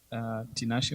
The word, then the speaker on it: Tinashe: Okay, Tanashi, I always butcher your name. Can you say it for me? Because I think I butchered it this morning for the students. Tinashe.